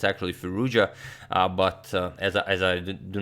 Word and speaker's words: Firouzja: onigiri one of the candidates of the 2020 candidates tournament and some of you said that I'm pronouncing ferocious incorrectly that it's actually firoozeh but as I do not know how to